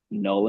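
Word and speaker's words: Knull: Um, so our track Null and Void is spelled K N U L L like null the god of the symbiot.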